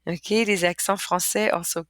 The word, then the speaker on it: français: Okay, that little wiggly thing causes for a k to be pronounced into a s. Okay, without it, this word would be pronounced franquet, garcon, le con, okay, facade, but with it, we have français, garçon, façade, leçon.